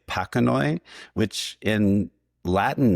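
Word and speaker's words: pachanoi: I've heard people say panoi which in Latin names like there's cactus called pacasirus that are spelled the same way. It is traditional to say the Latin ch like a k like panoi.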